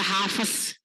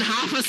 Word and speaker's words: Hafs: bacanya gini ejannya gini Bapak Ibu dibaca hafz hafaz hafaz gua hari ini ya jangan hafaz ya Bapak Ibu ya namanya